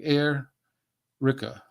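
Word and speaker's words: Airica: sorry L'Oreal l-a-u-r-e-l and her last name is Erica but it's spelled a-i-r-i-c-a like air Rika a different way of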